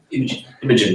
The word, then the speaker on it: Imogen: But I found that the discussion, featuring people like John Campbell, Imogen Dickey, I never know how to pronounce her first name, Imogen, there you go, thanks.